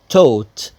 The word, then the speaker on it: taught: taught شوفوا نطقها ازاي يا شباب taught. الجي والاتش هنا silent taught.